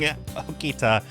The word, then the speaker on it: Okita: I keep mispronouncing Okita. There's no T sound in Japanese. It's halfway between a T and a D.